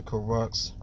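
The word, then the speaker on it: Kurucs: Now it's going to be dependent on DeMar Carroll's spot, but look at, let's go down to Crux. That's how you pronounce his name.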